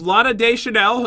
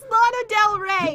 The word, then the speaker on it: Lana Del Rey: This one was Lana Day Chanel, is that right?